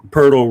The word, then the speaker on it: Pirtle: So we're seeing as he wraps around and, bounces it back to Pirtle rhymes with turtle.